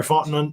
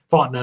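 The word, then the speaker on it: Fontenot: obviously arthur smith terry fontenon uh the gm now in atlanta i probably said his last name wrong font now there we go and so it's a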